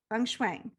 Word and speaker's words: feng shui: it correctly feng shui or functional feng shui feng shui so can you tell me just um a